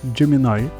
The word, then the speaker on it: Gemini: Далі встановлюємо додаток Gemini. До речі, так правильно воно читається.